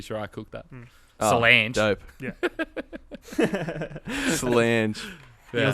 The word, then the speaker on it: Solange: I don't know how to pronounce Beyonce's sister's name. Solange.